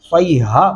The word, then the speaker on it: صيحة: صیحۃ واحدۃ، یہاں پہ باریک ہا پڑھیں گے، صیحہ موٹا نہیں پڑھیں گے ورنہ یہ درست تلفظ نہیں ہوگا. واحدۃ فَإِذَا هُمْ خَامِدُونَ.